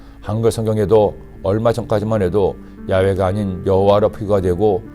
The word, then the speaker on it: 야훼: 사실은 한글 성경에도 얼마 전까지만 해도 야훼가 아닌 여호와로 표기가 되고 저희 교단에서는 여호와보다는 야훼가 더 옳은 발음이라고 생각하여 야훼로 바꾸어 표기하고 읽게 된 것입니다.